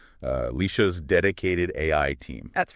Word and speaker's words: Alesha: Now, just to set the stage for you right up front, we are operating today as Alesha's, and that's pronounced Alesha's dedicated AI team.